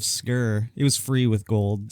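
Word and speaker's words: Sker: name yeah it's called it's spelled s-k-e-r so i'm like the maid of skur it was free with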